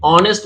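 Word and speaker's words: honest: एन लगेगा क्योंकि ऑनेस्ट में एच साइलेंट है और ऑनेस्ट ऑनेस्ट बोल रहे हैं मतलब ओ से स्टार्ट हो रहा है ओ इज a vowel sound so ही इज एन ऑनेस्ट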